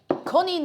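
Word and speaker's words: konijn: Coneen is stop. It is actually pronounced coneen. That's the same pronunciation more or less in Irish.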